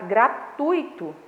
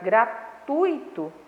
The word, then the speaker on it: gratuito: A palavra gratuito, a sílaba tônica é no tui, tá?